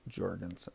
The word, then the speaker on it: Jorgensen: against it I say Jorgensen so like Jones Johnson Jorgenson it's a hard J I guess we would